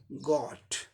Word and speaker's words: Got: ये ओ को दिखाता है, ओ साउंड को दिखाता है, जैसे कि GOT, गॉट। इसका British pronunciation गॉट, गॉट, गॉट हो गया।